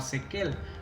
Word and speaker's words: SQL: En un principio se llamaba Sequel, un nombre que se utiliza como pronunciación alternativa, pero se quedó como SQL nada más por motivos legales.